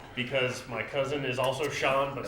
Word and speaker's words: Sean: my cousin is also sean but spelled differently how's it spelled s-e-a-n scene that scene but his name is not shown but what about ocean nah that scene that's that's how you pronounce it i actually i actually